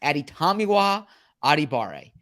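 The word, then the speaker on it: Adetomiwa Adebawore: It's a Tommy in there. Aditomiwa Adibare. Aditomiwa Adibare also goes by Tommy.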